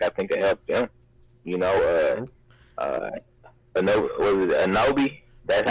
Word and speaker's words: Anunoby: Anobi? That's how you pronounce his last name? OG Anunoby?